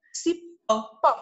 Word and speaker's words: cipó: E por último, cipó. Cipó. Cipó. Uma oxítona, é isso aí. A sílaba tônica é o pó, então eu emprego o acento agudo.